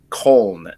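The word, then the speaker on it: Köln: the Border you're on just depending on if you want to pronounce it the German Way Or Not Germany Germans pronounce cologne col and that's spelled k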